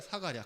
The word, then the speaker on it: 스가랴: 스가랴 흔한 이름입니다. 구약 성경에 무려 30명의 동명이인이 나옵니다. 같은 이름을 가진 사람이 많아요. 사가랴라고 읽기도 합니다. 스가랴, 사가랴 같은 뜻입니다.